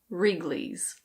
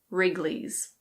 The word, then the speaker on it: Wrigley's: Yes, this is pronounced Wrigley's. Wrigley's. The W is completely silent, so just ignore that. It's Wrigley's.